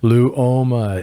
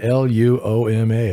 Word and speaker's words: Luoma: his funny thing is when you look at his his name it's pronounced phonetically you just look at it it's his spell it's uh lou oma l-u-o-m-a luoma i can't tell